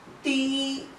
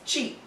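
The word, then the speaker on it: ち: It's not ti, but it is pronounced as chi. And it is not tu, but it is tsu.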